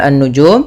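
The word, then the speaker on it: النجوم: Pada lafal fa idzan nujumu, lafal an-nujum, di sini ada alif lam syamsiyah, yaitu alif lam yang ditulis tapi tidak dibaca.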